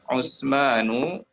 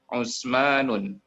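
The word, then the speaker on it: عثمانُ: Utsmanu tidak bisa dibaca Utsmanun.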